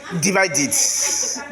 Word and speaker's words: divided: Divided. Donc lorsqu'on a T ou bien do à la fin du verbe, le ED se prononce id.